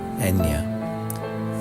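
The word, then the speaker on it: Eithne: Her name would be simplified and phonetically spelled Enya.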